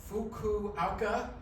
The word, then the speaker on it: Fukuoka: in, I'm gonna make sure I get this pronunciation correct, Fukuoka, Japan.